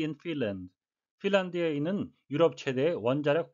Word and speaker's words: Finland: Finland, L-A-N-D는 land라고 발음 안 하고 런드가 되겠습니다. 그래서 국가 이름에 들어간 L-A-N-D 다 런드라고 England가 아니고 England가 되겠습니다.